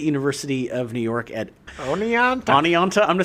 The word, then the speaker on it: Oneonta: How does Oneonta fit in, Jim? Well, it's pronounced one-onta.